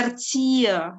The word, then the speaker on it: Erzieher: Bacanya Erzieher ya, bukan Erzieher, bukan H di tengah tidak dibaca.